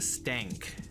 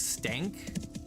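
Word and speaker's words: Stenk: pronouncing his name correctly, because it's S-T-E-N-K, but people were lazy and they would say Stank, which is not the same as Stank. And so he would like correct them, it's Stank.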